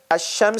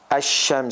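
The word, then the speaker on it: الشمس: sun letter so remember asham so how do you say asham so as there is a hidden sheen with the sukun underneath like this is how you pronounce it this is just for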